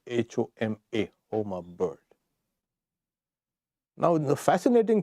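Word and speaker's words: Huma: So, but then it is written, spelt now H-U-M-A, pronounced H-O-M-A, homa bird.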